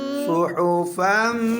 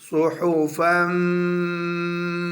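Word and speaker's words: صُحُفًا: fado ज़बर meme फम सुहुफम अगर meme पेश मु सुहुफम मु ये जो अलिफ है ना फा के आगे अलिफ साइलेंट है दो ज़बर के साथ सुहुफम अगर मीम पेश मु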